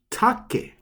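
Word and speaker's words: 竹: the word take but in japanese it's actually pronounced as take so ta take take means bamboo now we're up to the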